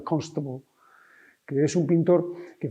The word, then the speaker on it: Constable: Uno es John Constable, que la gente, porque ha ido a Academia de Inglés, le llama Constable aquí, pero que no se pronuncia así, que en inglés se pronuncia Constable, que es un pintor